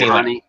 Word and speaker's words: Hani: how to pronounce it, but I always said Haney. It's Hani. Like Channy. No, it's Hani like Haniwa, the thingy.